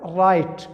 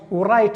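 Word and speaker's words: write: ګوره رایټ ورایټ به نه وایه ځکه چې د دې تلفظ نه کیږي، دغه سایلنټ دی.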